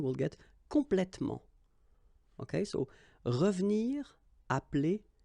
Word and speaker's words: revenir: So you've got re and then ve and nir, but then clearly you don't pronounce it, so you get revenir, revenir. Okay, same thing here, appeler,